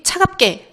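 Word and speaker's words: 차갑게: 자 차갑계. 요거를 자연스럽게 읽으면 우리가 당연히 차갑계 이렇게 쌍 기억으로 발음이 나는 것을 확인할 수 있어요.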